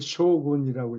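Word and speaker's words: 将軍: 한자로는 장군이라는 적는데 그걸 쇼군이라고 읽어요.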